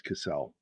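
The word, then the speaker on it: Kissell: And my side of the family has two L's, and so it's a soft E, so it becomes Kissel.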